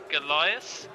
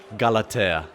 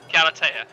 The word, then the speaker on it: Galatea: Is it Goliath? Galatea. Galatea.